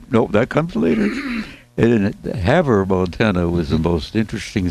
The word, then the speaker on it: Havre: That's Havre, but it's pronounced Havre. Named after a French seaport city of Le Havre, or something. You pronounce it like that. I can't say it in French.